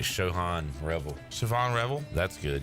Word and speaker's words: Siobhan: more like Sho Otani than Siobhan Revel like Shan Revel Siobhan Revel that's good you said it